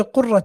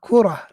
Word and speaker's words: كرة: Don't say قرة القدم by the way. لا كرة not قرة.